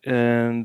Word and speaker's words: ha: So the short words, o and a, the h is silent, are two forms of the verb to have in Italian.